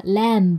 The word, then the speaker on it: lamb: 发音的不要读成的 lamb 应该是 lamb lamb 那其实